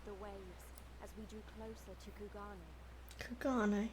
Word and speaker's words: Kugane: Kugane. Okay, that's how it's pronounced.